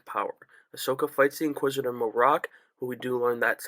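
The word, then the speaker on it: Marrok: their rise to power Ahsoka fights The Inquisitor morocc but we do learn that's how you pronounce his name it's not Merrick a lot of people oh my God it's Galen Merrick no it's morocc it's not Sam Whitworth don't worry and one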